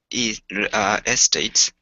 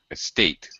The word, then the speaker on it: estate: now they've built housing estates on the farm. Estate. Estate. Yeah, second syllable stress.